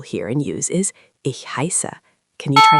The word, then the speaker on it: heiße: or sharp S, and it makes a sound like the SS in hiss.